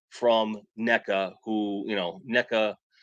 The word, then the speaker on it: NECA: NECA who you know NECA rhymes with evil I don't and I'm